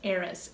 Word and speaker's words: Eris: a lot of positives with eras that's spelled e-r-i-s just to be clear not to confuse it with aries her brother energy and